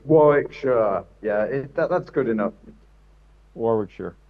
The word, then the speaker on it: Warwickshire: Yeah, it's Warwickshire.